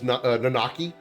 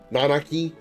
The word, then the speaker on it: Nanaki: I thought it was Nanaki, but apparently the emphasis is more on the first Nanaki. A, I guess. Nanaki. That's how they say it in Rebirth.